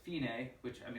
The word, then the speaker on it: fine: the end of the second line it says finae which i mean it's pronounced fine in english it says fine but